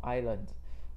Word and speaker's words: island: ， island 这个字的 S 不发音，好， S 不要念哦， island。